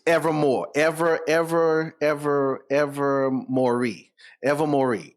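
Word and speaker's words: Ilvermorny: that uh it's ever more ever ever ever ever Mory ever Mory it's it's spelled weird but it's it's it's it that's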